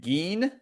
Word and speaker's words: Gehn: And there's a guy named Geen, Ed Gein. It's spelled a little bit different, Gehn.